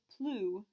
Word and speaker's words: plus: 2 S's we don't pronounce, which means the end of plus sounds exactly like that oo in the middle.